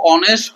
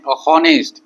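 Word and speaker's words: honest: এইচ ও আছে তো আমি যদি লক্ষ্য করো অনেস্ট শব্দটর প্রথম আক্ষর এইচ হয় তো এইচ আছে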